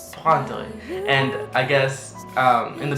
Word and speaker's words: prendre: And then the second half again, you can say dre. And then get faster and faster.